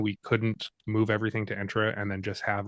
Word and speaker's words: Entra ID: ID or intra ID I got to get the real pronunciation of that an entra or intra I would say it's entra okay um but let's